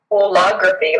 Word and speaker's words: holography: Holography, like whole or all of it.